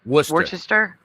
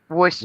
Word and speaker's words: Worcester: Worcester. Worester.